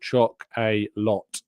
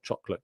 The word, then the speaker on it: Choc-a-lot: It's called choc-a-lot cake. It's not chocolate cake. It's choc-a-lot is how it's spelt.